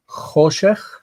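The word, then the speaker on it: חֹשֶׁךְ: So the next one is choshech and ha-choshech. Notice that the ch needs to be pronounced choshech, ha-choshech.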